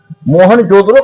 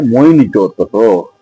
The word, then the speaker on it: मोहनजोदड़ो: मोहनजोदड़ो का जब प्रोनाउंसिएशन हम करते हैं वहां की भाषा में, सिंधी भाषा में, तो इसका प्रोनाउंसिएशन होता है मोइनजोदड़ो।